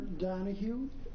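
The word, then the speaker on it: Donoghue: for the record I'm uh Dr danu danu is spelled D o n o g h u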